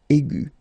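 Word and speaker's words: aiguë: Okay, but then you don't pronounce anything because it is exactly the same. So aigu will become aigu. Another example is ambigu, and it will become ambigu. Okay, so you don't modify the way to pronounce them.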